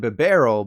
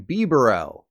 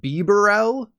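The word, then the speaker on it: Bibarel: I could let slide but be Burrell instead of barrel like the only interesting part of The Hobbit trilogy you say the last part like you're cold be Burrell or I guess kind of like the dad from Modern Family Ty Burrell speaking of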